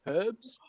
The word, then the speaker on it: herbs: pisses me right off herbs how Americans say herbs oh yeah yeah yeah when did the letter H become silent would you like some